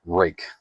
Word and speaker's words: Ruike: I'm fairly certain that's how you pronounce it, rake. It's spelled a little funny, but this is the Ruike P801-SF model.